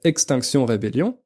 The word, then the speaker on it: Extinction Rebellion: groupe activiste qui s'appelle extinction rébellion oui c'est un nom anglais à la base mais on le prononce à la française vu que c'est exactement